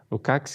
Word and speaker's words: Lukács: senhor chamado Georg Lukács, na verdade, a pronúncia, Lukács, que fala de conscientização.